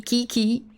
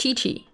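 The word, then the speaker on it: Qiqi: like chii should be Kiki but you pronounce it Chi-Chi because that's how it works in Chinese and sometimes it doesn't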